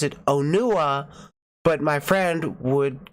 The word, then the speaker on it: Onua: the movie and you could hear them clearly pronounce it onua but my friend would call it Anya Anya yeah we joke laughs so but but